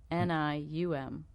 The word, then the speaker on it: Somnium: SOMNIUM. It's phonetic. It's just a weird word.